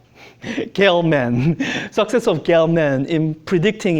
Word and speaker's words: Gell-Mann: from the success of, I learned how to pronounce his name. Gell-Mann, success of Gell-Mann in predicting existence of this particle and how to produce it.